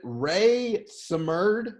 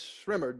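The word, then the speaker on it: Rae Sremmurd: Is it Ray Samerd, or however you say it? Yes, it is. Oh, You didn't say it right, but it's Shrimmered.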